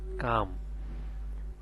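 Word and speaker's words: calm: এখানে এল এর উচ্চারণ না আসে, এখানে হবে কাম।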